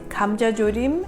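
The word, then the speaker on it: 감자조림: Gamja is pronounced G-H-A-M, Gamja, J-A, Jo, J-O, Rim, R-I-M.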